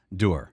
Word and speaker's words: dour: into D but the official pronunciation historical pronunciation is dur how do they say